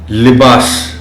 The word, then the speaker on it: لباس: خاص توجہ چاہیں گے۔ لباس، لام کے نیچے زیر کا خاص خیال رکھا جانا چاہیے۔ ملک، یہ لفظ اور